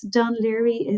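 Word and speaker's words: Dún Laoghaire: So it's Dun Laoghaire is how everybody pronounces it.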